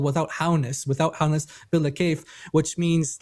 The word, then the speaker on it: bila kayf: If you write this down, it's spelled Bila, and then space K, Kayf. Kayf. It's called Bila Kayf.